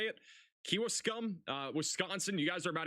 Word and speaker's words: Kewaskum: Got a big surge of wind also going into West Bend, and I think that's how is that Kewaskum? I think is how you say it. Kewaskum, Wisconsin.